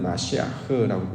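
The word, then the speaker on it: משיח: 자, 기름을 붙는 것 이거 이제 히브리어로는 마시아흐라고 이제 발을 합니다.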